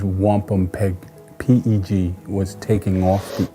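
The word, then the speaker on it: wampumpeag: The true Algonquin pronunciation is wampum peg.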